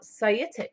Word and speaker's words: Saitic: Now, Saitic is spelt Saitic.